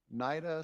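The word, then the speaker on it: Nayda: We have Nida, it's spelled N-A-Y-D-A.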